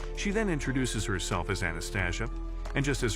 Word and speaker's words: Anastasia: She then introduces herself as Anastasia, and just as her name rhymes with anesthesia, she can make all his pains go away.